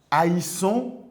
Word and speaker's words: haïssons: vous allez avoir nous haïssons, mais si ça reste de cette manière, la prononciation ne peut pas se dire haï. Voilà pourquoi vous avez le i qui devient un tréma.